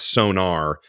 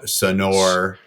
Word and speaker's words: Sonor: in my entire life it's not sonar sonar son soner to me is like really what it is everything else feels like indulgent son sonor it's like sounds like snor it's just like sonar let's get to it